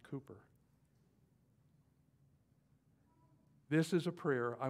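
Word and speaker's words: Cowper: blood his name is William Cooper pronounced Cooper this is a prayer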